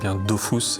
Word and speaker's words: Dofus: I wanted it to sound like œuf. For anyone who still has doubts, it's pronounced "dofous" and not "dofus".